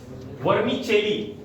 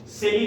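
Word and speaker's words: vermicelli: वर्मी चेली. सेली नहीं है, चेली है, क्योंकि फ्रेंच वर्ड है. वर्मी चेली. सेवई को वर्मी चेली बोलते हैं.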